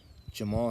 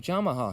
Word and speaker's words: Jamahal: of tearing his Achilles Jamal Hill or as some people like to call him jamaha hill that's kind of how his name is spelled if you read it but it is